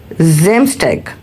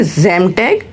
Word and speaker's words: Samstag: If S in the start, so it sound like Z. For example, if we say Saturday, so it's a Samstag, and if we call Sunday, it's a Sonntag.